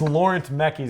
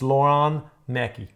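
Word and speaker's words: Laurent Mekies: If you Well, if you look at it, it's Laurent Mechis is how you think it is, but it's Lauron Mechi.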